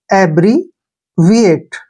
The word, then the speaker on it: abbreviate: यहाँ पर देखिए ए का उच्चारण हम क्या करते हैं, ए करेंगे ऐसे, ए। डबल बी का उच्चारण बै करेंगे, RE का उच्चारण री करेंगे ऐसे, एब्री, एब्री हो गया ना। VI का उच्चारण वी के रूप में लिखेंगे ऐसे, वी, और ATE को हम एट पढ़ते हैं, एट।